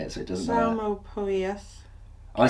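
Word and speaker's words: Psalmopoeus: The P is silent. I obviously know that. Salma. There's a couple of ways you can say it, so it doesn't matter. Salmopoeus. I say Salmopoeus, some say Salmopoeus.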